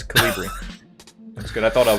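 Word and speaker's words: Kolibri: Also, Dilch told us how to pronounce it, so that's good. It's Colibri.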